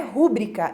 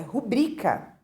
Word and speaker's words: rubricar: como uma proparoxítona pública Então não é rubricar é rubrika E também temos o